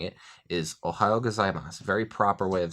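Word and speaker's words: おはようございます: to a great start this is ohayo-gozaimasu there are actually a lot of sounds in here that are pronounced quickly enough to where you don't really hear them so the formal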